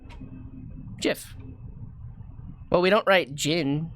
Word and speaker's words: GIF: really weird um no it's jif like gin g j-i-n like the drink gin jiff well we don't write